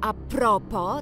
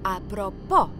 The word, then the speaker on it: à propos: najczęściej z pochodzenia francuskiego na przykład à propos nie akcentujemy A propo tylko A propo chociaż istnieją też na